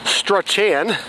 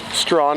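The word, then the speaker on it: Strachan: so if you didn't know it was called strong you probably pronounced it struck Chan but the correct pronunciation is strong of course well anyway that concludes part 1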